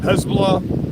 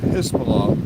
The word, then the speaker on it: Hezbollah: China's getting involved um Hezbollah Hezbollah spelled h e stop saying hisbah people the way you pronounce